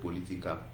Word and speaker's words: political: So if you are do me do political, so it is the second syllable that you stress. So the answer is option B. So political. So political. So you stress the second one.